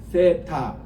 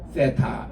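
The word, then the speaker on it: θῆτα: 그 타입니다에 긴 거예요 세입니다 th 해서 렇게 세타 입 아랫니 그리고 여기는 혀이 발음 그 그대로 따라서 세타 이렇게 발음하고 있습니다 요까지 우리 같이 한번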